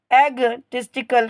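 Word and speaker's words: egotistical: word है आपका इगा यहां पे आपका जो ओ वर्ड है यह आपका साइलेंट रहेगा इसको पढ़ेंगे एग एग टिस्ट कल क्या पढ़ेंगे एग टिस्ट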